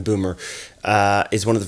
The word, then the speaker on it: Böhmer: do from the outset ben barber although i think it's pronounced ben boomer uh is one of